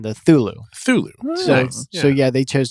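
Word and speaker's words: Cthulhu: considered to be correct he did prefer the pronunciation of thulu thulu for cthulu the ca is silent yeah but that was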